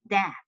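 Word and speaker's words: deque: assignment okay so this is called dck so pronounce it as dck okay so it's double ended CU double ended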